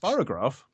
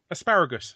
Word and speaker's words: asparagus: Sparrowgrass? It's not sparrowgrass. Asparagus. Sorry, asparagus.